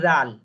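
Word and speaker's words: ذال: জিহ্বার আগা সামনের উপরে, দুই দাঁতের আগার সামনে, জিহ্বার আগাটা সামনে হালকা একটু বের করে একটু নরম ভাবে উচ্চারণ করতে হবে, জাল।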